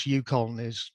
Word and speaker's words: UConn: And yes, UConn that's how you pronounce it.